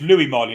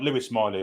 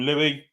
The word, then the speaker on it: Lewis Miley: great goal apparently he Lou Miley not Lewis Miley apparently all accounts really Eddie calls him Louie D called him Louie yesterday yeah it's I mean it's spelled Louis but they call him Louis for some reason I don't know maybe it's a nickname maybe it's it's a